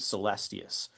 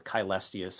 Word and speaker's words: Caelestius: but a man named Celestius or Caelestius or Chelestius, depending on what uh pronunciation of Latin you're going with.